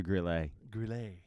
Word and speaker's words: Grille: my braid hurts so it is grill with an e gorilla The Grille it's a Grille it's French it's French it's French